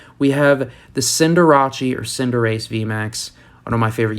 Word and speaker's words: Cinderace: we have the cinderacci or cinderace vmax one of my favorite youtubers wolfy vgc he always says cinderacci and i i am a huge fan of